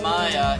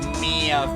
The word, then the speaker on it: Mia: It was not Maya, it was Mia Fey.